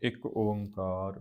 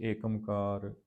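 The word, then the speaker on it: ਇਕ ਓਅੰਕਾਰ: उस तो अगे है एक ओंकार सतगुरु प्रसाद एक ओंकार न एकार इकार इदा नहीं पढ़ना य पहली वीडियो मैं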